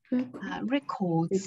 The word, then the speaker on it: record: 容易弄错。Records 和 record 对，它做动词的话读 record，然后哎做名词就是 record。